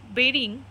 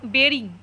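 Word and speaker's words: burying: থ্রিতে কি বলছে দেখো আ গ্যাং অফ পাইরেটার বেরিং এটা বুরিং প্রোনাউনসিয়েশন করবে না বেরিং এটার উচ্চারণ হচ্ছে বেরিং বি ইউ আর ওয়াই আইএনজি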